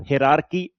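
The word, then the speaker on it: hierarchy: हायरार्की हम इसलिए बोलते हैं क्योंकि बहुत सारे बच्चे यही टर्म यूज करते हैं, तो इसलिए मैंने ऐसा बोला। हिरार्की उसके लिए एग्जैक्ट टर्म होता है, प्रोनाउंसिएशन की बात करूं तो मैं।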